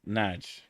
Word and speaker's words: Nagy: Apparently the surname Nagy is pronounced Naj. It's Hungarian, I think.